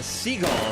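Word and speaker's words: Segall: We got Pamela Seagull here. The correct English pronunciation of her name.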